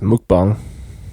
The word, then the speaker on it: Mukbang: It's called Mukbang, pronounced Mukbang. Oh, so it's Mukbang. Mukbang, okay. I've been saying Mukbang, but I guess bang is such a American... United States kind of bang.